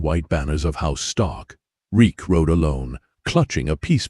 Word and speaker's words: Reek: Reek, Reek, it rhymes with leak.